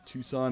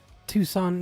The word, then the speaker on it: Tucson: We are broadcasting to you guys live in Tucson, Arizona. Oh, It nice. is August 11th, 6:39 p.m. You said it wrong. Tucson, Arizona.